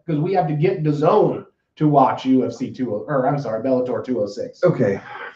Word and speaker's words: DAZN: And then at the end, someone nailed it, said DAZN. So, like, not a bad video to try to explain how to pronounce your terrible name.